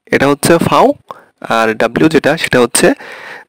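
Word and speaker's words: Vau: আর জার্মানিতে ভি, ভি, ভিকে ওরা বলে হচ্ছে ফাউ, ঠিক আছে? আপনি এখানে ভি বললে হবে না, এখানে বলতে হবে ফাউ।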